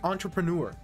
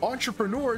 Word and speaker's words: entrepreneur: So entrepreneur is pronounced with a CH.